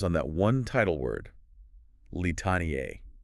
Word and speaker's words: Litaniae: I'd probably say Litaniae. 4 distinct syllables, Litaniae, but the instructions in the file tell you to sing it differently. They say to pronounce it as a triplet, Litaniae. Okay, I hear that, Litaniae. Yeah. It kind of smushes the end together. So that's 3 syllables.